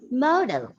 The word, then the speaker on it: modal: has to be stressed so one first one is model model and the second one is modal just m-o-double note model but there is a slight o sound there model that's the difference